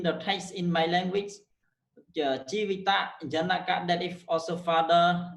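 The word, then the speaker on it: ជីវិត: For example, jivita. Jivita. If we go through in the text in my language, Jivita, Janaka, that is also father, this word only pronounce 2 syllables. Jivita, that's pronounced Jivit, and Janaka, that's pronounced Jano.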